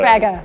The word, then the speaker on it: Kwagga: So Kwagga.